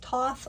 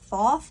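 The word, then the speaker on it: Thoth: I remember right um I've heard it pronounced Toth I've also heard it pronounced tho I'm just not attracted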